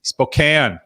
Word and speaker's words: Spokane: windsor uk all right northern utah vicky hello spokane okay and then northern california right you know